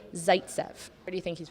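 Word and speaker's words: Zaitsev: definitely his first name Zaytsev close close it's actually Nikita you got that right Zaytsev what do you think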